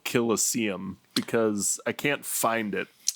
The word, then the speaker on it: Colosseum: Colosseum is how you pronounce this word.